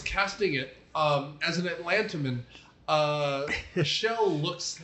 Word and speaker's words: Schell: Schell, I think I might have mispronounced it. It's Schell. Schell.